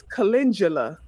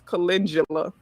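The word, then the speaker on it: calendula: I'm never saying chindula. Kindula. I said kindula. WHO SAID THAT? EXCUSE ME. WHO SAID THAT? KINDULA. Who the It's spelled C A L E N D U L A.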